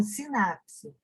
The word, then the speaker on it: sinapse: As suas terminações nervosas, elas convergem a uma região conhecida como sinapse. O S é mudo, tá? E o P também, né? Perdão. S-I-N-A-P mudo C-S-E, sinapse.